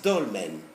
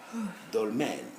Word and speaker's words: dolmen: c we have exception this is dolman it's an oral sound not a nasal sound dull man dolmen okay rule number four